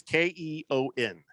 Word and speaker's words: Keon: Keon is Keon. Keon rhymes with the element.